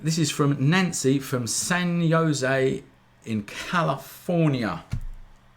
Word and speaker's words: San Jose: When this is from Nancy from San Jose in California. Is that how you say it? San Jose? Yeah, it is.